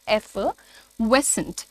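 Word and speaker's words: effervescent: इसमें एफ का साउंड है, आर को बोलना नहीं है, एफिवेसेंट, एफिवेसेंट, ठीक है, एफिवेसेंट।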